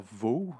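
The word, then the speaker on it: Waugh: Alors, c'est un film d'action américain réalisé par Scott, je vais dire Vough, ça s'écrit W-A-U-G-H, donc ouais, Scott Vough, ou Scott Wow, puisque c'est américain.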